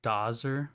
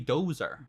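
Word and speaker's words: Dozzer: Wouldn't that be Dozer? I mean, I'm okay with both pronunciations, but it's supposed to be Dozer.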